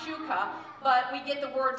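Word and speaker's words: ψυχή: there is the one that is Shuka it's pronounced Shuka but we get the word psychology or our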